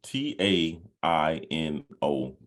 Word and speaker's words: Taino: yes so I want to make sure I pronounce this right okay uh is it is t-a-i-n-o Tano they're like indigenous people to the Caribbean oh